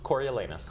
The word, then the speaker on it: Coriolanus: this will be I'm going to let you pronounce it again Corey Lana coriolanus court Coriolanus and this will be at the